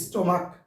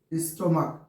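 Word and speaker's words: stomach: উচ্চারণ যদি ক হয় তাহলে এস যোগ হবে উচ্চারণ স্টমাক উচ্চারণ ক স্টমাক উচ্চারণ হচ্ছে এই উচ্চারণ কওয়ার কারণে শুধু এস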